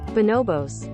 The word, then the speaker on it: Bonobos: Is that how you pronounce it? I looked it up afterwards, and it is not. Bonobos.